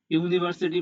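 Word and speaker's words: university: মনে রাখবেন শব্দ নয় আসল খেলার সাউন্ড বা উচ্চারণে। ইউনিভার্সিটি বানাতে প্রথমে ইউ আছে যা একটা ভাওয়েল কিন্তু উচ্চারণ হচ্ছে ইউ এর মত।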